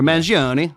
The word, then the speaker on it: Mangione: Well, apparently, did you read about like how the shooter, like this Michael Gioni or Mangione?